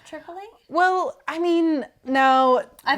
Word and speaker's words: Tripoli: It's Tripoli, but I was calling it Tripoli. I thought it was because I pronounce it Tripoli. And that's how it's supposed to be pronounced.